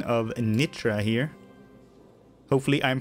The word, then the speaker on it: Nitra: And thanks to one of my subscribers, Milan, who told me the correct pronunciation of Nitra here.